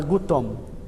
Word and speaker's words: gutom: outras línguas latinas também então teremos o g gu gu go Gu Isso é o que vai aparecer no tagal não vai aparecer o g e o g então sempre gutural o exemplo da palavra